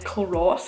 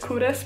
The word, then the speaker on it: Culross: Well, first of all, I thought it was called Culross. I didn't know you pronounced it Culross, but anyway.